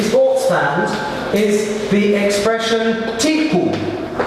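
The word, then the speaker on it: תיקו: What will be extremely familiar to speakers of modern Hebrew, particularly sports fans, is the expression tiku. Admittedly in modern Hebrew they pronounce it teku, which means let it stand.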